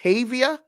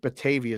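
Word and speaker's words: Batavia: show RJ matthysse 630 bavia Illinois is that right I think bavia is correct that's how you say it sure I'll take your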